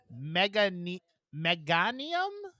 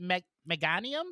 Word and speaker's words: Meganium: Um, the only other thing I have, and it's always for Caitlyn, is Pokemon number 154, Mega Meanium. Is that how you pronounce it? Meganium.